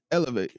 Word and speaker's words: ELIV8: And that thing, right, is elevate, right? Elevate is spelled ELIV and the number 8, right?